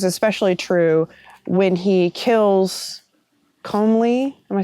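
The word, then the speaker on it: Comyn: junk common okay it's it's spelled differently than that c-o-m-y-n i've been told by our scottish viewers that it's common i think so komen originally okay so scotch gaelic sorry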